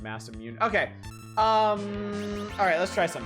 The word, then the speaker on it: Masamune: This is supposed to be pronounced Masamune.